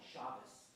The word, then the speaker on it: Shabbos: That is our tradition to say talis, just like Shabbos.